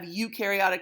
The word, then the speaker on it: eukaryotic: cells that you have y-o-u is pronounced the same way as eu so you have eukaryotic cells notice the the nucleus